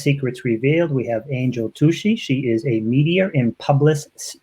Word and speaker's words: Tuccy: Now, am I pronouncing your last name correct, Tuccy? It's Tuccy, like fussy. Tuccy.